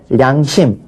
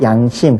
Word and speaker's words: 양심: 다른 걸로 바꿔야 돼요 그래서 량심 안하고 양심 그렇게 발음하고 궁 용 령자 령이